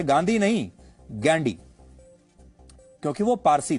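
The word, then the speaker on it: Gandhy: फिरोज गांधी के पिता का नाम था जहांगीर फरदून गैंडी। अंग्रेजी में वो गांधी नहीं गडी लिखते थे जिसकी स्पेलिंग है जी एच ए एन डी वाई गडी फिरोज गांधी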